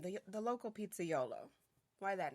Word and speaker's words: pizzaiolo: So Pizzaiolo is how it's pronounced, is the Italian name for pizza maker,